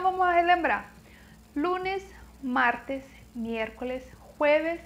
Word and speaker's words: jueves: Presta atenção na pronúncia, que se escreve como jueves, mas não tem o som do J e não tem o som do V. Jueves, certo?